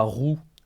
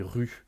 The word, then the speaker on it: rue: vraiment insisté sur attention on dit pas roux on dit rue par exemple ce qui